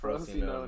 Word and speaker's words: Frosinone: because yeah, It's Frosinone. Frosinone. I know. There's a couple I'm gonna mispronounce because Okay.